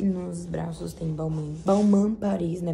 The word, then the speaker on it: Balmain: Balmain Paris, né? Porque o jeito certo de falar é Balmain. Mas tudo bem. Todo mundo fala Balmain. O MC Daniel fala Balmain. Então todo mundo acaba falando Balmain também.